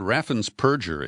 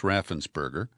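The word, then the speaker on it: Raffensperger: you know who brad raffen's purger is that's the way greg palace likes to pronounce his name it's raffensberger he is the republican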